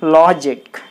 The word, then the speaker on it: logic: So you put the stress mark on L-O, law. Then it will be logic.